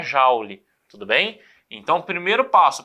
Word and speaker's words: Joule: que é um cara mas é francês Então se pronuncia Jauli Tudo bem então primeiro